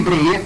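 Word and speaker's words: Bréhier: nós vamos trabalhar nele breer como é que se escreve BR e h i r r né BR r e h r tem um acento do primeiro R bre bre o em que é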